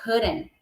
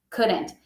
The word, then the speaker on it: couldn't: Quando eu falo da junção de could mais not, a pronúncia vai ficar couldn't. Couldn't. É, claro, né? Sai um Tzinho aí no final, dependendo ali, mas quando tá junto, eles acabam falando só couldn't, tá?